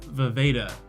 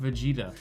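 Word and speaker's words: Vejvoda: Jared Habon and Jim Vaveda, whose name I made sure to learn how to pronounce this time because it's not Vegeta.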